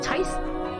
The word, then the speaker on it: tithe: I'm supposed to ask for teeth. How do you say that? Teeth? Tithe?